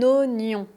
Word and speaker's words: oignon: Un oignon avec la liaison. Un oignon ou des oignons. Je mange des oignons. J'aime la tarte à l'oignon. Donc c'est pas wa c'est. Oignon.